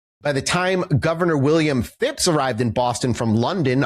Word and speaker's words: Phipps: Didn't you just say his name was Fitz? Phipps. Phipps! P-H-I-P-S.